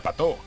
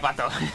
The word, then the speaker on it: Patau: Si yo me llamo Patau y se pronuncia Pato. Ah, Pato. Sí, somos los dos raros. Se pronuncia Pato.